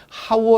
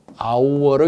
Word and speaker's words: hour: h 는 이제 hour 그래서 읽을 때는 하우어 로 있는게 아니라 아우 얼어 있습니다 h 가 소리가 않는 침묵의 소리 무기입니다 묵음 그렇기 때문에